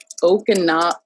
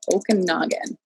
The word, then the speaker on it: Okanagan: say it again ash okay okay tesla owners okinawa okanagan okanagan yeah okay and then on twitter do